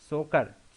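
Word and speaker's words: Tso Kar: सोकर, T silent होना चाहिए वैसे यहाँ पे, चलिए कोई बात नहीं, सोकर वेटलैंड्स कॉम्प्लेक्स, और दूसरा है इसमें सो मोरीरी, ठीक है।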